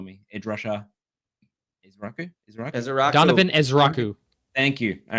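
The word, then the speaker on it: Ezeiruaku: Uh so I am gonna take Can you just pronounce it for me? Ed Russia isu Donovan Ezrau.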